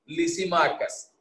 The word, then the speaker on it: Lysimachus: अपने वाला लिसी नहीं है, लिसीमाकस, LYSIMACHUS, लिसीमाकस।